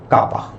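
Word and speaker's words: κ: Dielectric constant is written with K and is pronounced as kappa.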